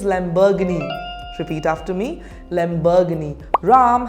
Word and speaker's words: Lamborghini: do you pronounce it Lamborghini the correct pronunciation is Lamborghini repeat after me Lamborghini